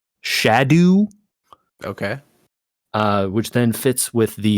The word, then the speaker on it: Scadu: And apparently this word in Old English is kind of pronounced like closer to shadow.